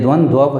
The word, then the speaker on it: द्वंद्व: पहचाना सबसे आसान है लेकिन इसका उच्चारण ध्यान से करना यह द्वंद्व है इस द्वंद्व समास नहीं